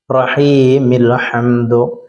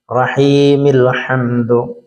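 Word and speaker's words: الرَّحِيمِ الْحَمْدُ: അവിടെ അലിഫും ലാമും ഉണ്ട് അലിഫിന് നമ്മുടെ ഉച്ചാരണ നമ്മൾ മാറ്റി നിർത്താം ലാമിന് സുക്കൂൻ കൊടുത്തിട്ട് റഹീമിൽഹംദു റഹീമിൽഹംദു അൽഹംദുലില്ലാഹി ബിസ്മില്ലാഹി റഹ്മാനി റഹീമിൽഹംദു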